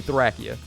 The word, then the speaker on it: Thracia: If you want to know why that is, read the katakana for the game in Japanese and tell me that doesn't say Thracia.